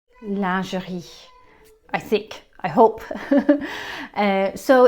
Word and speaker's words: lingerie: french speakers may have picked up that we pronounce it lingerie in english lingerie which is actually the incorrect